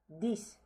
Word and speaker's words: dix: Dix. Again, the X is as S here.